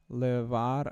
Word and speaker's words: llevar: says que puede llevar, it means Llevar. which can lead. Llevar. Llevar. Yeah, you got it. It's pronounced llevar, and it does mean to lead or to carry.